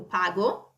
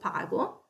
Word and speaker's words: pago: So you go io pago, you see it's a hard G. So io pago, tu paghi, again with an H, to keep consistent with the rest, with the sound in the conjugation.